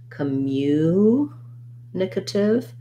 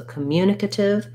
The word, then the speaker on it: communicative: happens it's like communicative um and it also has stress on that syllable so communicative has second syllable stress so it sounds like